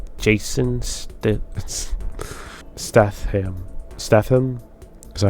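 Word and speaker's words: Statham: Stethm. Is that how you say it? Stethm. He is an actor. Jason Staith Stath Staithm.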